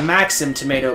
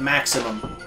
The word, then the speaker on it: Maxim Tomato: keep saying it wrong it's a maxim tomato but I keep calling it maximum I don't know why